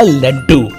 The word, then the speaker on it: लड्डू: देखो ये है लॉ और ये टू, तो अगर प्रोनाउंस करेंगे लॉ टू लॉ टू तो बन जाएगा लड्डू।